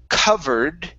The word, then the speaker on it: covered: we have the word covered okay the word is cove covered give me a good v sound covered good one more time